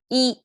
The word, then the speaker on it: 一: see this horizontal line is our e is pronounced by itself as e is simply one um in our numerical system